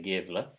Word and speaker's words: Gävle: In the town of Gävle, I'm going to say Gävle, in Sweden.